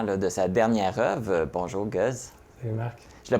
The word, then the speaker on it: Gueze: Bonjour Guz. Salut Marc. Je le prononce comme il faut?